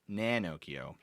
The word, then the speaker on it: Nanocchio: Think of Pinocchio, but with an N. So instead of Pinocchio, it's Nanocchio.